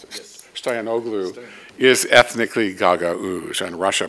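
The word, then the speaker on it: Stoianoglo: The losing presidential candidate, Stoyanoglu, is that how you pronounce it? Yes. Stoyanoglu is ethnically Gagauz, and Russia plays that card very, very aggressively.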